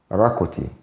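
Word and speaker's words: ⲣⲁⲕⲟϯ: ويمكن هنا برضو ظهر فيها حرف الاول كوجي او حرف الاوميكرون، فلما نيجي ننطقها بنخليها كضمة صغيرة بنقول راكوتي.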